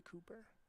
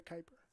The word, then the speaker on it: Kuiper: A little bit outside, make it 1-1 now on to Cooper, or to Kuiper. Mispronunciation there.